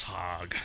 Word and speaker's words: Hogg: hog Oak hog hey pronounce his name Boss Hogg with h OG g